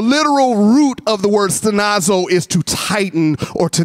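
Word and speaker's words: στενάζω: What the word sigh actually in Greek, it means stenazo. So everybody say stenazo.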